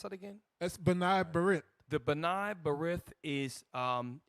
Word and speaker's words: B'nai B'rith: Mickey, how do you pronounce that again? That's B'nai B'rith.